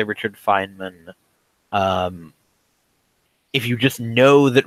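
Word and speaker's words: Feynman: knows that a Richard fine mine is I'm not even sure I'm pronouncing that correctly Fineman his name pronounced Fineman Richard Fineman is you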